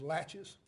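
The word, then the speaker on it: laches: in Civil Court as latches at least that's the way we pronounce it in this part of the world it's French so I'm not sure if that's proper pronunciation but it's latches what does that mean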